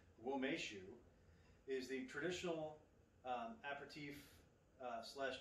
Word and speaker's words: Umeshu: of what it is so it says womeshu pronounced womeshu is the traditional apertif slash dessert liqueur made